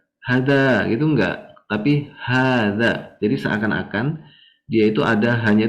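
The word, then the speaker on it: هذا: Nah, ini intinya hada ini bacanya hanya panjang.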